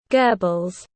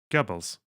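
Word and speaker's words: Goebbels: chat Pedro is it it's not goral gabbles gubbles yeah that's what I said gubbles your pronunciation was correct that's what I thought you even need to tell me I knew it already just checking because it's an o with an uml one of the things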